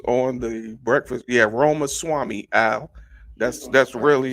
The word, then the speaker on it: Ramaswamy: and he was on the breakfast he had Roma Swami owl that's that's really how that's really how